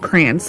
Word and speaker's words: crayon: My kids and I all say crayon, like, like cranberry, like C-R-A-N. But my husband pronounces it like the correct way, the crayon.